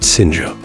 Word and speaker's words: Sina: Her friends called her Sina, pronounced Sinja.